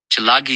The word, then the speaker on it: Chalagi: call it plains view chalagi is how you say cherokee in choctaw sort of an insult